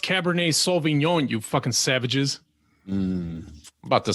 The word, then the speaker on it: Cabernet Sauvignon: pronounced Cabernet Sauvignon, you fucking savages.